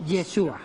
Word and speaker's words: Yeshua: dice Jesús en hebreo o yesua se pron yeshua significa Salvador Salvador yeshua